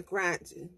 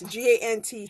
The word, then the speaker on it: Gantt: I can't be a Grant. Pronounce it Gantt. Gantt.